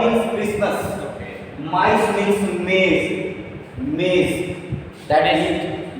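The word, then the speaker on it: maïs: When I'm saying ma and then e, mice, mice, mice.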